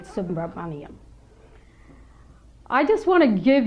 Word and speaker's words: Subramaniam: pronouncing my name accurately I have been called submarine and you did a great job of pronouncing it subra I just want to